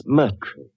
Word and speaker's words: Moriarty: People will either misspell it or mispronounce it. I'm afraid I'll have to begin calling it the way it looks. M-O-R-I-A-R-T-Y.